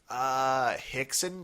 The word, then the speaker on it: Rickson: Rhymes with Dixon. Rickson Gracie?